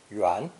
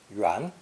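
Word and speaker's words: 员: obviously meaning a circle or anything round it's pronounced second term yuan yuan a circle implies completeness so juan was used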